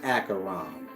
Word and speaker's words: Acheron: that's after acheron mean the river but it's pronounced acheron and his name is karan and you get